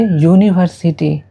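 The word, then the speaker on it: university: word को देखते हैं तो यूनिवर्सिटी स्टार्टस विथ यू जो कि वॉवेल है लेकिन जैसा कि पहले हमने बताया है कि वर्ड पर ध्यान नहीं देना है साउंड पर ध्यान देना है तो यूनिवर्सिटी को हम प्रोनाउंस करेंगे यूनिवर्सिटी तो इसलिए हम इसके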